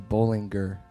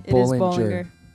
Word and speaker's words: Bollinger: of the time people just get your last name wrong and they say Bollinger wait no Bollinger yeah I say it right now but I